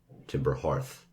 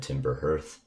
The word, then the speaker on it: Timber Hearth: i also included here that timber hearth is pronounced hearth and this is confirmed by the game's creators um so definitely say timber hearth and your voice lines if you've already said timber hearth um that's all right you can leave it